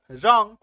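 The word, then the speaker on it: wrong: नियम का रहा है तो ऐसे शब्दों में आपको ब्लू का उच्चारण ही नहीं करना है ना तो क्या बैक गया आर ओ एन जी रंग है ना अरे ये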